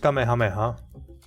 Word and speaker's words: Kamehameha: mean hours H okay isn't it just Kamehameha should be pretty easy to pronounce and also the Goku's uh signature attack from Dr Dragon Ball also helps with that pronunciation I wonder if akura